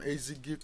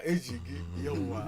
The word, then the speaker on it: Ejigi: We got information that an individual from Ezigi community had an altercation with one Adamu, with one Jibril Adamu, Thank you, sir. Ejigi. Maybe I've brought my Yoruba pronunciation.